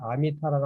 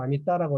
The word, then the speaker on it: 아미따: 왜 내가 아미타라고 않고 아미따라고 하는가? 이 상스크리트에는 타라는 발음이 있고 따라는 발음 두 개가 있어요. 그러니까 아미타라 그러면 전혀 다른 뜻이 되어버려요. 뜻도 없는 단어도 없어요. 그런 것은. 그러니까 아미따라고 반드시 해줘야 된다.